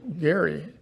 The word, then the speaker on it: Gerry: but then the governor governor elridge Gary with a hard G elridge Gary signed it